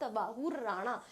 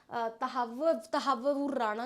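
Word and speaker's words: Tahawwur Rana: Issue पे बात हुई, that is extradition of तवाहुर राणा। तवाहुर राणा क्या है? तहावुर राणा, जो भी जैसे भी इसका प्रोनाउंसिएशन किया जाता है।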